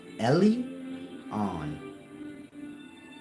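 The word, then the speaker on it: Elyon: in ancient Hebrew Lan it's pronounced Ellie like e l y Ellie like Jesus said Ellie Ellie llama llama or whatever he said like that Ellie on basically your modern day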